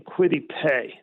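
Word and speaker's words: Kwity Paye: have him take they have the eagles taking quitty pay now am i pronouncing that correctly i think i am yep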